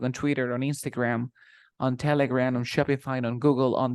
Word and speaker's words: Telegram: for example I say telegram it's like an e that becomes an A in your mouth like Telegram Instagram telegram Instagram you